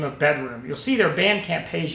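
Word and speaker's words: bdrm: that I've recently discovered by the name of bedroom you'll see their Bandcamp page here on the screen it's spelled up by Liza's BDR mm but is pronounced bedroom they are a five piece quintet from the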